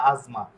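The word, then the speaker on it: asma: মত হয়ে গেছে ইজবালি এরপরে এই যে আজমা বাংলাতে বা ইটালিয়ান ভাষা এটা হয়ে যেত আসমা ঠিক আছে সর উচ্চারণ করত কিন্তু এটা হয়ে গেছে কি আজমা এস এস এস এর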